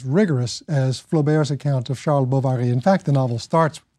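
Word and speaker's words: Charles Bovary: as flamberge account of Shah Baba he in fact the novel starts with Sheldon Bovary and I'm pronouncing in vain in the French way because he goes into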